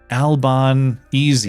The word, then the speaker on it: Albanese: Long Dong John also said, "If you uh if you care for accurate pronunciation, it's Albanese."